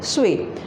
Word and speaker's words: suis: Along with je, we always use suis, suis, and the pronunciation is suis.